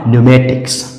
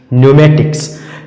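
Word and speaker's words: pneumatics: तो यहां पर भी पी के बाद एन आया है और पी का उच्चारण नहीं होगा और सीधा-सीधा उच्चारण इसका हो जाएगा न्यूमेटिक्स न्यूमेटिक्स वायु शस्त्र वायु शस्त्र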